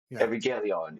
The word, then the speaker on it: Evangelion: Evangelion.